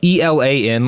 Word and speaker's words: Elan: E L A N like the French word, you know, Elan.